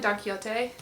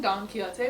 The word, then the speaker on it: Don Quixote: I've discussed this book, I was pronouncing Don Quixote wrong, and pronouncing it Don Quixote. And the person I buddy read this book with, which I'll put her Instagram handle below because Lord loves her, Jessie, is Spanish speaking, and she definitely pronounced it Don Quixote, and I was like,